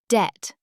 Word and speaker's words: debt: Debt, four letters. Debt. The B is silent.